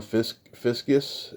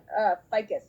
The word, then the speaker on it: Ficus: And then you wrote, produced, and starred in a movie called Searching for Ron Fiskus. Is that how you pronounce it? Ficus.